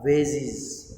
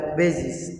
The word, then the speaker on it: vases: She had trouble lugging those large vases or vases. There are two pronunciations, vases also and vases also.